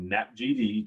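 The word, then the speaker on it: NAPGD: the acronym we can tell you how to pronounce it right so nap gd 2022 all right that's the future geopotential datum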